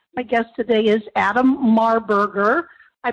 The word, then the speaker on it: Marburger: And by the way, my guest today is Adam Marburger. I pronounced that properly, didn't I not, Adam?